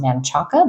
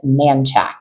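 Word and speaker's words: Manchaca: model home and this looks like it is pronounced Manaka but it is not uh it is manack so that is where you can find the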